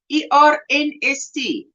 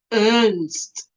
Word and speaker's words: Ernst: E-R-N-S-T. That's how we would say it. I don't know how you say it in American. Ernst. We just say Ernst. Because there's an R in it.